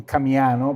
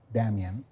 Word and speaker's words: Damien: The local people called the Kanakas, the Kanaki, couldn't pronounce his name, so they call him Kamiano because they couldn't pronounce the sound D, Damien.